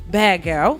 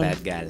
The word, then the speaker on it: Bad Gal: First, we're going to drop Bad Girl, right? Did I say it right? Gal or girl? Gal. Bad gal. Gal. Got to put that accent on it.